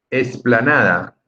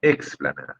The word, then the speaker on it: explanada: Esplanada, vamos a la esplanada. No, es explanada.